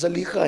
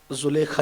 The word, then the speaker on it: زلیخا: زلیخا، اصل تلفظ زلیخا ہے لیکن کچھ لوگوں کو تھوڑا سا بار پڑتا ہے اس لیے زلیخا ہی کہتا ہوں۔ زلیخا یوسف کے لیے